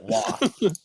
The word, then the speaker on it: Roy: You do not spell Roy and pronounce it Wa. Yes, you do. You do in You do. Quebec and France.